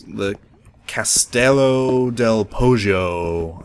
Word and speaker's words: castello: Or actually, I believe my brother said it was Castello. Like you pronounce the L twice, I think you do in Italian.